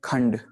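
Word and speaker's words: ਖੰਡ: देखिए टीपी आमतौर पे जब भी आम शब्द के साथ लगाई जाती है तब वो अन की उच्चारणता हमें आधे नन्ही की उच्चारणता वहां पर मिलती है। जैसे कि हम कह सकते हैं खंड, ठीक है। खखे के ऊपर टीपी और डड्डा, खंड, वहां पर टीपी हमें नन्ही की आवाज दे रहा है।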